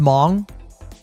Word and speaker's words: Hmong: It's just pronounced mong.